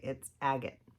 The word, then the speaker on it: Agate: or anything like that, like I've heard other people say. It's agate. I'm going to go in with the shade Agate here on the end. Pretty sure that's the proper way to pronounce that name.